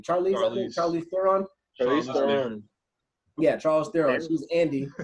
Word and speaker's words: Charlize Theron: So you're not necessarily immortal, but the main character is actually I can never pronounce her first name. Charlize Theron.